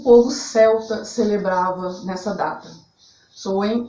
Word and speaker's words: Samhain: E para os bruxos praticantes, a gente usa o nome Samhain, S-A-M-H-I-N, se pronuncia Samhain, tá?